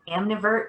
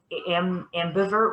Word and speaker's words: ambivert: Like an amnivert, is that the right label? Mm-hmm. I think I said it wrong. Ambivert with a B.